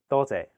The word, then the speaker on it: 多謝: 多謝. Your turn. 多謝. The first character is in high flat tone, first tone. It means many.